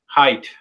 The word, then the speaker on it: Haidt: How do you say it? Haidt? Tight. Haidt. Okay.